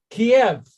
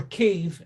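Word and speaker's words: Kyiv: Okay, now, Kiev, or Kiev, as it's now pronounced, has 110,000 Jews.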